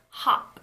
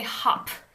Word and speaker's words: hop: hop on a boat when you pronounce the word hop in English you don't release the P with aspiration there's no like release of air when you say it you don't say hop hop we say ha ha